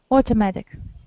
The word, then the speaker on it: automatic: U is pronounced as O. Automatic.